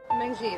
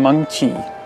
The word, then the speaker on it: Mengqi: Meng Qi, that's how you pronounce my name. It's actually Meng Qi, and it has tone to it. Meng Qi.